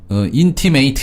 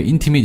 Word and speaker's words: intimate: 형용사를 쓸 때는요. ate 이렇게 발음 안 하고요. it 이렇게 발음해요. 그리고 동사일 경우에는 ate 이렇게 발음하고요. 예. 그래서 제가 intimate 이렇게 발음 안 했고요. intimate 이렇게 발음했거든요. intimate? 예. 이거 그 강세가 앞쪽에 있고요.